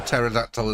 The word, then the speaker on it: pterodactyl: can't you hear a pterodactyl in the bathroom the p is silent geez Dave I think